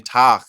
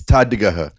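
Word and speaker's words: Tadhg: There's like an Irish comedian, Tach, as well, who had his account taken down.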